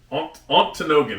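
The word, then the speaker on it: Ontonagon: Antinogan is how you say it.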